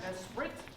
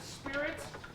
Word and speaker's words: Esprit: It's called Fanfare Esprit. Not as it is in the program, Fanfare Spirit, as they like to make fun of me because I mispronounce it all the time.